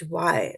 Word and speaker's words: ह्य: not he it is Hy right so it has to be pronounced like my has pronounce my right